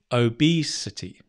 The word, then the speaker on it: obesity: become obese the noun obesity say that with me obesity notice the stress changes from no it doesn't obese ob it's the same stress obesity great nice some